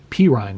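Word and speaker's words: Perine: He pronounces his last name Pirine. That's how he pronounces it.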